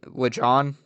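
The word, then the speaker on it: Lajon: I I'm make sure I'm saying it right Leon yeah Leon okay Leon wither spoon is his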